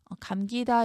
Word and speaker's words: 감기다: 자, 이때는 된소리 적용하면 안 되고요. 감기다 이렇게 평음으로 발음하셔야 돼요.